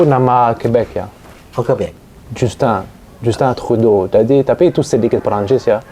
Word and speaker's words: Trudeau: Bacanya gimana? Perdana menteri Trudeau. Ya, Trudeau.